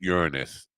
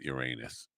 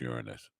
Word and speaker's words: Uranus: And by the way, it's pronounced Uranus, not Uranus. I just want to make that clear. We always get that wrong. It's an easy joke, but it's pronounced Uranus.